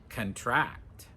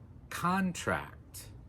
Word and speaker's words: contract: Notice here the stress is on the first syllable.